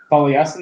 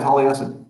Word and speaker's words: Taliesin: It's like is that's spelled like that? Talisen. What was that? Taliesin. That's how you say it. Yeah, Taliesin.